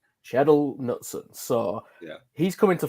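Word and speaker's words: Kjetil Knutsen: and then you've got how do you pronounce it jared it's uh shadow sheddle knutson so yeah he's coming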